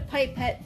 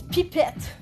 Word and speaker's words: pipette: people call it a pipette but actually it's pipette that's how you pronounce it in French it's a French word so see look at